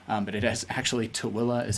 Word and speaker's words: Tooele: A lot of people call it Tooele, but it is actually Tooele is how you pronounce it.